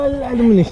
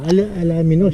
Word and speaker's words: Alaminos: ah ganong pronunciation pala pero aluminous to no alaminos no yes alaminos pangasinan